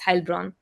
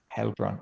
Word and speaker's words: Heilbronn: it's EI, it's A usually pronounced. So it's Heilbronn. Heilbronn.